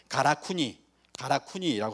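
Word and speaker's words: 韓国: 발음은 똑같아요. 가라쿠니라고 합니다. 가라쿠니 신사라고 하거든요.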